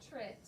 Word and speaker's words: portrait: And then we have another syllable, trit, which it looks like it should be trait, portrait, but that's not how we pronounce this word.